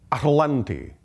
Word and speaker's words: Atalante: repeat after me okay atalante can at atlante at atan atlante atalante atal atal at ATL atalante atalante yes atalante was actually the way they pronounced their society atalante atalante atalante perhaps